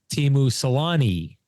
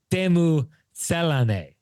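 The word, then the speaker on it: Teemu Selänne: It's not, but because of that, we all say Teemu Selanne, right? We've always said that for years. It's actually Teemu Selanne is how you should be pronouncing his name.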